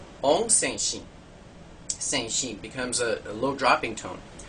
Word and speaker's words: 先生: Okay, notice there's a nasal sound at the end of saying xin, and xian, there's a nasal sound in there, so watch out for that.